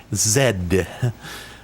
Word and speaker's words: ZX: who created it uh pronounce it the way that it's meant to be pronounced um Zed honestly trying to say ZX Spectrum now feels very weird and uncomfortable to me ZX actually uh feels it rolls off the tongue way better um so well I